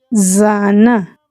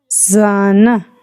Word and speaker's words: zana: Al pronunciarla vibran las cuerdas vocales, lo que genera un sonido parecido al zumbido de una abeja.